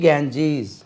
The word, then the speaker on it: Ganges: தென் reverse, தி கேஞ்சீஸ், இது ஏற்கனவே உச்சரிப்பு படிச்சுக்கோங்க. தி கேஞ்சீஸ், தி கங்கா கிடையாது, கேஞ்சீஸ், GANGES, கேஞ்சீஸ்.